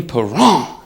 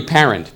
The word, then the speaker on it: Parent: hockey stuff all right Bernie Peron right his name is Bernie parent p a r n t but the French always say screw the ENT wouldn't it be great